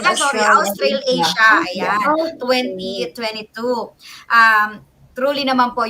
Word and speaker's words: Australasia: Ano pang pronunciation nito? Australasia? Australasia. It's actually Australasia.